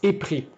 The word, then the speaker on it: épris: Si je dis la finale en S et que je prononce épris, ma dernière lettre sonore, c'est un I et non un S. Pourtant, je dois écrire épris avec un S.